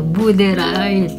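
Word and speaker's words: boerderij: Ye burder. Bur artinya iya pengucapan gitu. Buder r-nya enggak terlalu diucapkan.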